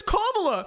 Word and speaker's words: Kamala: cover for her for Kamala hair oh it's cobbler say her name right say her name right